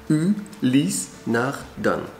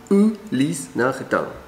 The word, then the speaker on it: Ulysse Nardin: Единственный самый правильный вариант произношения на французский манер будет звучать так. Ulys Nardin. У, не ю и не у. Ulys Nardin.